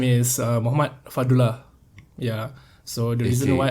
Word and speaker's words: Fadlullah: So there's Fadlullah is the normal one. Yeah. Fadlullah is another one.